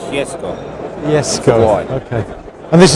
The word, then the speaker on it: Jesko: from con Z yes how do you pronounce it jessco jessco or if you want to be Swedish Jesco yes go okay and